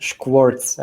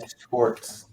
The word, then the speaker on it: Skvorc: So my last name is pronounced Skvorc. I know that trips a lot of people up. Skvorc. Yeah, that's like sh plus quartz. All right. That's how we roll in Southeast Europe.